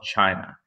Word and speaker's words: Qin: Um, now the Qin are or sometimes pronounced more correctly the Chin.